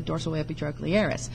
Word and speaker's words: dorsoepitrochlearis: His name, and I've got my probe under it there, is the dorsoepitrochlearis. Or said correctly, dorsoepitrochlearis. But if you just break it down into syllables, it kind of helps you spell it.